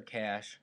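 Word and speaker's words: cache: to cash cash and it's pronounced the same way cash the obviously you guys know cash has a money and then the other cash c a c h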